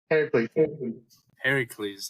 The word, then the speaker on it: Heracles: Heracles. There we go. My pronunciation guy here.